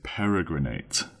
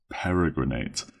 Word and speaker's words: peregrinate: And our final word for today is peregrinate. Peregrinate. That's spelled P-E-R-E, para, G-R-I-N-A-T-E, grinate, peregrinate.